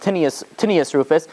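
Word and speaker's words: Tineius Rufus: This is, if you look it up in the secular sources, it's pronounced Tinius Rufus.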